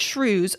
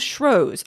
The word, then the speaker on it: Shrewsbury: also said for Shrewsbury some people pronounce it shrews some people use shrews I can never remember